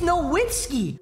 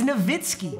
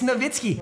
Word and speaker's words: Nowitzki: we're like published it's no whiskey no actually no you're so unbelievably wrong he is from Germany W's are V's it's novitsky if you pronounce you